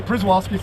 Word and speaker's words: Przewalski: I want to say Przewalski, so that's how it's spelled. It's often mispronounced, but it is Przewalski's horse, and they're a warm,